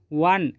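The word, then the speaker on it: one: एक bubble letter है लेकिन जब हम इसका उच्चारण करते हैं तो क्या पढ़ते हैं व वन यानी कि व व बोलने से एक व्यंजन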